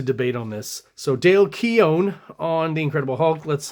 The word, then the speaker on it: Keown: to say um but from General consensus it seems like it's Dale Keon and uh Todd McFarland so I'm going to try to make an effort and uh pronounce it that way if anyone again